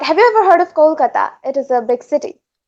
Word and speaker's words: Kolkata: Have you ever heard of Kolkata? It is a big city. Kolkata. Yes, I think so. I think we probably mispronounce it when we talk about it here. Yeah. I think we call it Calcutta.